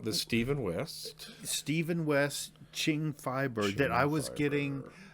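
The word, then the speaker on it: Qing: uh six skeins and it's ching with a q ching fiber thank you someone someone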